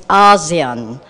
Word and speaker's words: ASEAN: that core message that to pronounce it the same way that say 650 other million people do it and it's ASEAN we had some discussion